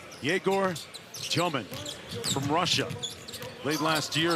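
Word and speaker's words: Demin: Forget about the spelling on the back of the jersey, folks. The pronunciation is Tyomin. Yegor Tyomin from Russia.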